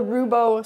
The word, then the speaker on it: Roubo: tool that is is the rubo saw that's spelled r o u b o and uh we made